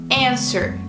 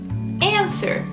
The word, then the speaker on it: answer: Answer. Answer. See, easy, you just don't say the W.